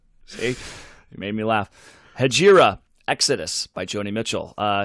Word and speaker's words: Hejira: yeah so this is uh hajira i think i am pronouncing that right hajira you better get that right i guess yeah it's sajira yep hajira i checked it this week i checked